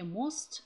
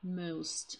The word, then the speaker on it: most: Не most, а most. Здесь гласное o читается o. Most.